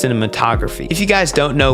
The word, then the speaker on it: cinematography: I thought it was pronounced cinema photography. No, it's it's pronounced cinematography.